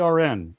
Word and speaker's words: Aron: ARN.